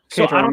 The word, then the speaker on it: Caterham: I think it's like Caterham. Caterham. Caterham. Yeah, that's the H is silent.